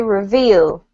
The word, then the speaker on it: reveal: good well done um this one is reveal reveal yep the emphasis is on the second syllable okay reveal reveal better well done